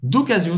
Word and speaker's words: d'occasion: Essa aqui tem o som do Z.